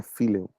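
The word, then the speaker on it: φιλέω: um amor de amizade ou filho ou fileo pronúncia correta seria filho Você tem o Eros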